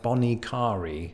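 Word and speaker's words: Bonnet Carré: that's that's not it so the locals go with something like bonnie carry let me know in the comments below how you pronounce it either way the bonnie carrera spillway bridge of interstate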